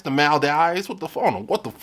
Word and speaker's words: Maldives: It's the Maldives, not the Maldives. The Maldives.